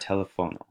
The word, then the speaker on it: teléfono: They are used to emphasize or add stress to syllables, such as with the word teléfono, where the accent is placed on the third vowel to the end.